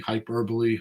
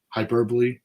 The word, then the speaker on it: hyperbole: not some marketing hyper hyperboy how do you say that word hyperbole that's good we're not we're not